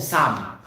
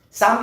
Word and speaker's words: Psalm: So 150 chapters in Book of Psalm. Psalm is silent P.